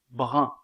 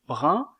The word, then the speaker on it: brun: mot brun la voyelle 1 comme dans le mot pain est une voyelle mi ouverte antérieure est nasale mais elle est étirée tandis que la voyelle 1 du mot brun est arrondi donc la prononciation diffère